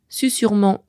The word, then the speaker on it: susurrement: Susurrement comme susurré s'écrivent bien avec un seul S. Ils viennent du latin susurrus et ont conservé leur prononciation initiale.